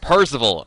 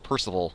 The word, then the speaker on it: Parzival: Parzival, because I keep wanting to say like Percival.